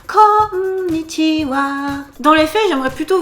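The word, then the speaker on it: こんにちは: Connitiwa et n'oubliez pas la petite chanson qui va avec pour la bonne prononciation connitiwa.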